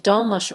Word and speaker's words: dolmuş: In Turkey and Turkish-controlled Northern Cyprus, dolmus, pronounced dolmuş, are shared taxis that run on set routes within and between cities.